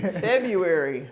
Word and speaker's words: February: Vietnamese like that February February I was trying to think February it's the only month that has a silent letter in it the only one where this is silent but if you say